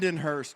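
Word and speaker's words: Lindenhurst: say that town again lenur lyen Hurst New York not whatever that was wow my name's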